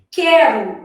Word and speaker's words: quero: Quero, o U não é pronunciado.